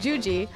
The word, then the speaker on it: Juji: I'm your host, but you can call me by my nickname Juji, which is super fun to say and rhymes with Fuji.